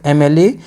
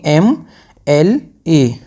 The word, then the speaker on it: MLA: यहाँ पे जो MLA की साउंड है, जो प्रोनाउंसिएशन है, ये वोवेल साउंड से स्टार्ट हो रहा है, तो इस वजह से